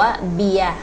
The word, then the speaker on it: เบียร์: การัน เนี่ย คือ อะไร ตัว การัน คือ ตัว ที่ คุณ จะ ต้อง จำ ว่า เรา ต้อง เขียน แต่ ว่า ตัว เนี้ย เมื่อ อยู่ บน ตัว อักษร ใด ก็ แล้ว แต่ จะ ไม่ ออก เสียง ตัว นั้น นะ คะ อย่าง เช่น คำ ว่า เบียร เอ บอ อี ยอ แล้ว ก็ ร เรือ กรัน อัน นี้ อ่าน ว่า เบียร ถาม ว่า ถ้า เรา